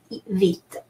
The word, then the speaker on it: vite: And so E sounds E everywhere, and final E is silent, vite.